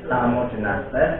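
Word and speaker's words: Psammodynastes: Samodinastes. Iya, P-nya bacanya nggak terlalu cetok, bukan pes samo tapi samo. P-nya cuma sedikit aja.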